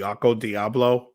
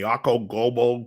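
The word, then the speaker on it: Okko Diablo: My buddy has that pedal he uses, the Occo Diablo. It took me about 10 times to realize how to say it. I kept saying the Occo Gobo.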